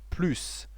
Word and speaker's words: plus: In all other cases, we say plus. Sometimes we pronounce plus without the final S.